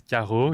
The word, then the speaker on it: Carreau: So my name is Carreau in a French accent.